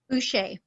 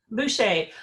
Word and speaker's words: Boucher: And this is Boucher. Do I pronounce that correct? Boucher. Boucher. I never know if we want to give it that little French flair or not.